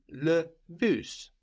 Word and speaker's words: le bus: For example, the bus is le bus, the bus. Le bus. So that's spelled just like in English, B-U-S, but we pronounce that S on the end.